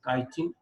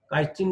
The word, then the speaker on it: chitin: থেকে উদ্ভূত এই অংশটির ভেতরের প্রাচীর বা অন্তঃপ্রাচীর কাইটিন, এখানে মূলত ইংলিশ কাইটিন বানানটা ছিল এমন হয়ে গেছে আর কি, CHITIN, কাইটিন নির্মিত শক্ত আবরণে আবৃত।